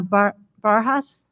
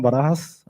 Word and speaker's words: Barajas: we have uh barjas and ramon acosta i apologize i got your last name wrong oh it's fine it's barajas um i'm here cause